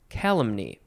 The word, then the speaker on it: calumny: calumny or Calum meat so you emphasize the first syllable calumny that is also a